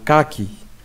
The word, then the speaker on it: kaki: K plus A c'est K, comme dans un kaki. Un kaki.